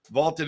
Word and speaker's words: VLTED: Vaulted is spelled V-L-T-E-D, and it's the app to challenge your friends, store your predictions, join daily cash prize pools without any entry fee.